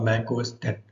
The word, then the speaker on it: Mac OS X: for Macintosh computers actually this x is pronounced as 10 because it was the 10th major date of the Apple's